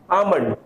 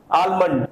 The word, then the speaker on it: almond: will be pronounced as almond almond and in american pronunciation we'll pronounce it as almond l will sound there but the both both